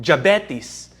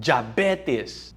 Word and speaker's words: diabetes: Slash your risk of diabetes or in the Philippines as we call it jabetes by 50%. Have here in the Philippines uh the di is pronounced with a J. Pedatrician jabetes Christian Josmo diabetes by 50% have the risk of premature death from heart disease.